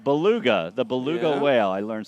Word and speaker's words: beluga: we've had all day it's pronounced Beluga all right Beluga thank